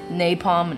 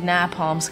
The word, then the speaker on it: napalm: all the words wrong i kept pronouncing napalm napalm i was like nah palms guys in my bedroom